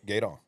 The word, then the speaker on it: Gueydan: Gaydon. All right. Gaydon. I'm just trying to It's make sure spelled- It's spelled this Gooey correct. Dan, but it's Guidon. Gaydon. Gaydon. Gueydan. Gooey Dan.